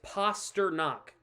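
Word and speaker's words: Pastrňák: Posta neck I'm sorry it's poster knock p a s r n a k and San has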